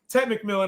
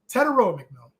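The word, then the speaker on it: Tetairoa McMillan: I try to say Ted McMillan. I get crucified by the community. So I want to say his name right. Teteroa McMillan. I think he'll be good all season long.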